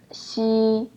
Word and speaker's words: x: X is pronounced as Shi you also make your tongue flight and then try to pronounce the word sushi sushi flight your tongue